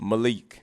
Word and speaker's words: Malik: Malik. But it's Malik X, the one and only. It's spelled Malik.